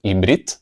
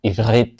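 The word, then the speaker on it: עברית: Por eso es que hebreo, en hebreo no se dice ibrit, sino ibrit, con esa r que es más alemana que semítica.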